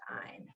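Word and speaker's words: -yne: So I'm going to use the ending YNE, which is pronounced "ine."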